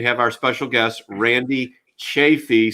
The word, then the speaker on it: Chaffee: It's a long A, but that's okay. Chaffee.